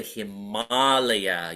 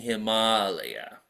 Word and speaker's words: Himalaya: One frustration I have is Americans pronounce the Himalaya. You know, we say Himalaya. They say Himalaya. Yeah, the Himalaya mountains. I'm like, chi, tu. It's not Himalaya, it's Himalaya. Say Himalaya. It sounds beautiful.